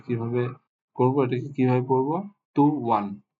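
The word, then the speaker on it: طُوًى: তাহলে এই শব্দের সাউন্ড বা উচ্চারণ আমরা কিভাবে করব, এটাকে কিভাবে পড়বো? টু ওয়ান, টু ওয়ান, টু ওয়ান, টু ওয়ান।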